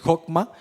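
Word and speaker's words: חכמה: pero si no sabe cómo leerla pues se pronuncia eh hokma y esta palabra eh tiene su significado etimológico y es saber hacer.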